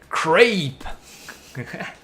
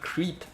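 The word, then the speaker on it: crêpe: Crepe. Crepe. Not creep. Crepe.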